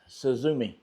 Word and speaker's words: Suzume: And the company name is Suzume. And yes, I'm pretty sure that's how you pronounce it because I watched one of their videos. And that's what they were saying.